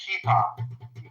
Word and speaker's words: kippah: It's pronounced kippah. Kippah. Kipper, Yom Kippur. Kippah, not Yom Kippur.